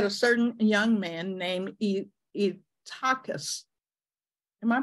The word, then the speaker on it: Eutychus: And in a window sat a certain young man named Eutychus." Am I pronouncing it, Pastor Sam, correctly? Eutychus, okay.